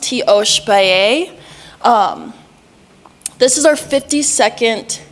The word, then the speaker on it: Tiospaye: So, it's pronounced Teo Spaii.